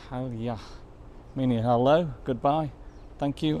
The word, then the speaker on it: Palya: And there we go, Palya, pronounced Palya, meaning hello, goodbye, thank you and welcome.